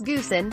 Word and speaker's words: Goosen: There are some names certain to trip up unsuspecting television commentators, such as Hurricanes back Wes Goosen, whose surname is pronounced Toisin like the Chinese sauce, and Chiefs assistant coach Tabai Mopson, whose first name is pronounced Tumbai, with a silent M.